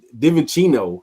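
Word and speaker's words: DiVincenzo: coaching job nobody saw divin Chino div divin Chino that's how you say his name Dante deeno de chinzo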